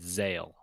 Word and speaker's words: Zahel: you just kind of ignored the h in the middle completely and just said zale gotcha kind of dig